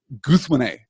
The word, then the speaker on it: Guthwine: Guth, first element of compound secondary stress on win, and then the final E is a schwa and not stressed at all.